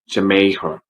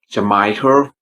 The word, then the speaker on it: Jamaica: I hear some people say Jamaica, maybe by looking at the spelling MAI, but don't say Jamaica, please say Jamaica, because if we say Jamaica, people might understand us, but it's not the correct way to say it.